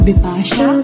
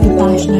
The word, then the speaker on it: Bipashna: So starting off with my name is Bipashna. It's spelled B-I-P-S-H-N-A, it's not Bipasha, it's Bipashna.